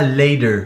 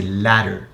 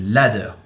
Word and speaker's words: ladder: D'ailleurs, faites pas l'erreur parce que je vois plein de Français qui essayent de dire ladder, sauf que ça se dit pas ladder. Ce A se prononce A, c'est ladder. Ok? Parce que dans le CrossFit, ils essayent tous de parler anglais à moitié sur des termes, mais c'est pas ladder, c'est ladder. Putain!